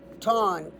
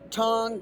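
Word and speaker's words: Taung: The remnants were called Tawn Child. T A U N G child. So this skull, he gave it the name Raymond Dark gave this skull the name Tong Child.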